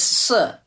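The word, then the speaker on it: 四: 4 is bad because it sounds like the word, it's si, but it sounds like the word si, to die.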